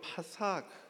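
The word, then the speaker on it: פסח: 머뭇한다는 단어는 히브리어로 파삭 이렇게 발음하는 단어를 씁니다.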